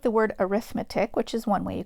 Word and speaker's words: arithmetic: looks like the word arithmetic which is one way you can pronounce it but in this context it's pronounced arithmetic so think like a paramedic it's pronounced the same way arithmetic an arithmetic sequence